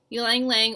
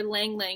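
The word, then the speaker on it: ylang-ylang: Ylang ylang or lang lang, it doesn't matter how you say it, is a very common one that women use.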